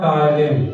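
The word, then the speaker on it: Ptyalin: और आप जानते हैं मनुष्य के लार में एक एंजाइम होता है जिसका नाम होता है टायलिन, टी साइलेंट है, ये जो टायलिन एंजाइम होता है ये भोजन में उपस्थित स्टार्च को माल्टोज में कन्वर्ट करता है।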